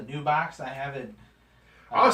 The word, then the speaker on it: Nebox: box right yeah Val you pronounce it knee box he calls a new box I have it oh